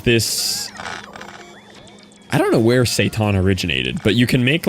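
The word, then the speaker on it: seitan: So, I took um there's this I don't know where Satan originated, but you can make like this plant-based uh meat called Satan, and it's literally the antithesis of gluten-free, people.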